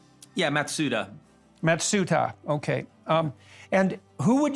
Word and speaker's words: Matsuda: Matsuda, have I got that pronunciation right? Yeah, Matsuda.